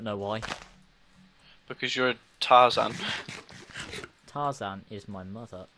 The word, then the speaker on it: Tarzan: The word is Tarzan. Tarzan. The word is Tarzan. I feel like an ape sometimes. I feel like Tarzan. The word is Tarzan. Tarzan rhymes with Parmesan.